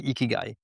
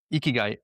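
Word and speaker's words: ikigai: not the only one and it's called the eeky guy and ikyu is a very simple framework and it's in those simplicities. Can you spell that? Eeky guy.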